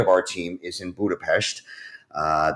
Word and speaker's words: Budapest: Uh, and so we've got about uh, 12 US folks and the remainder of our team is in Budapestt. Uh, the S is pronounced sh so it's Budapestt and we have about 120 folks in Hungary.